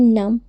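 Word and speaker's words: numb: होता है तो फ्रेंड्स जब भी एम के बाद बी आए तो बी हमेशा साइलेंट रहता है जैसे एन यू एम बी तो इसको हम पढ़ेंगे नम बी ओ एम बी इसको हम पढ़ेंगे बम सीओ एम बी को हम पढ़ेंगे कॉम टी एच य एम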